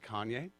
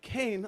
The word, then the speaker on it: Kayne: never done coke so my name's spelled uh k-a-y-n-e so if you're dyslexic please pronounce it kanye um a lot of other people will be like kane oh that's so cool